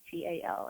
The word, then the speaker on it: Meytal: easier time just clicking Meytal, which is spelled like metal, only with a Y. So Meytal.